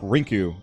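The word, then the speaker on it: リンク: better phonetically but like link is straight up rinku in japanese which is they're like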